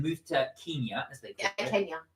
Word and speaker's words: Kenya: to Kenya as they Kenya sorry Kenya apparently Kenya is the right way I've been told is the right way to pronounce it and Uganda then here